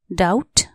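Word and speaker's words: doubt: एस T trust शंका डाउट डी ओ यू बी टी डाउट यहां B silent D ओ यू बी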